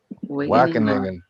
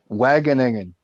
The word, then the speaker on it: Wageningen: Wageningen.